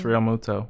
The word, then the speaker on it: Realmuto: I think I'm saying about is it bounce Realmuto Realmuto okay so I am saying right yeah